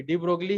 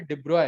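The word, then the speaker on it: de Broglie: नाम नहीं था, सॉरी, डी ब्रोगली ही, ऐसे लिखते तो ऐसे ही है, पर इसका जो प्रोनाउंसिएशन होता है डिब्रॉय, डिब्रॉय होता है, डिब्रॉय। हम गलत प्रोनाउंसिएशन करते हैं, ठीक है।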